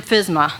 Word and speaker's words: FSMA: So I use the acronym FSMA. That's kind of how we pronounce it.